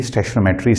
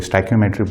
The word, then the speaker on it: stoichiometry: तो आज का जो लेक्चर है ये बेसिकली स्टैचोमेट्री से है, ठीक है। कोई इसको स्टैचोमेट्री बोलता है, कोई स्टैक्योमेट्री बोलता है, जो आपको ठीक लगे आप वही प्रोनाउंस करें।